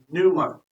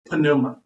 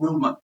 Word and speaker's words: pneuma: This doctrine is also known as pneumatology from the Greek word numa. Now I've heard it online. We do not pronounce this word panuma. The p is silent. It's called numa.